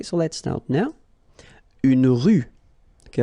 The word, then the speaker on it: rue: Une rue. Okay, remember final not pronounced. Une rue.